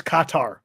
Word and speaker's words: Qatar: to pronounce it q-u-a-t-a-r i don't know cutter qatar cuts qatar i believe so it's like sitar correct okay all right